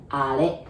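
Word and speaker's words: あれ: We say are. I know it's written R, but we say are. And be careful with the R, okay? That's are.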